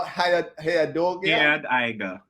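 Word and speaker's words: Head aega: Hayad aiga. Okay, let me try again. Hayad aiga. Hayad Aida.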